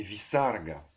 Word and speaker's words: visarga: visarga, nominatif singulier, masculin, visargaha. Donc souvent on le rend avec un petit ha à la fin, mais en fait on devrait dire visarga.